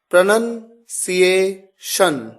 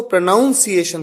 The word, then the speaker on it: pronunciation: तो सही विकल्प है ए, प्रोनंसिएशन, प्रोनंसिएशन। कई लोग गलती करते हैं, इसको प्रोनाउंसिएशन कहते हैं। यह अक्सर एक मिस्टेक है, लेकिन आप ध्यान दीजिए